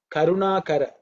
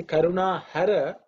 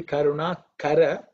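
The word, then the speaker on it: करुणाकर: back to the word karuna kara if you say karuna hara that means destroy the compassion okay so it should be karuna kara there this is so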